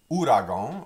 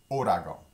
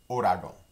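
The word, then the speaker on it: ouragan: the next word um looks like the word uragong and sometimes it's pronounced like that but louisianians typically pronounce it odago try that orago very good uh ano ragon is the word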